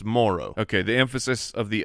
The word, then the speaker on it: Moreau: we were saying his his name incorrectly right it's spelled Moreau but no it's Foster Moro it's Moro okay the emphasis of the O is earlier